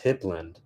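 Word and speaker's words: Hypland: Uh they're like an anime um well I call them Hype but they're pronounced Hipland and I'm like um yeah, they're having a Demon Slayer collab.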